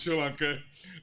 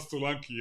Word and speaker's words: Solanke: Now, for the record, I've said that the correct pronunciation of of Dominic's name is Sri Lanka. It's not Solanki.